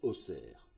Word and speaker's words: Auxerre: projet en lui même auxerre malgré un x dans le nom se prononce auxerre situé au sud de